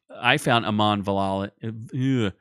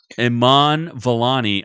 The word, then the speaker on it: Iman Vellani: I found Aman Vellali. I found Miss Marvel, Aman Vellali. What the hell's her name? I keep mispronouncing it. Iman Vellani.